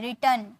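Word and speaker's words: return: वापस आना यानी कि रिटर्न रिटर्न नहीं रिटर्न टन are silent रिटर्न okay next है चढ़ना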